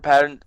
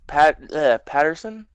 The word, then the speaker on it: Pattinson: I want Robert Patterson Pattinson. Pattinson. I always get his name wrong.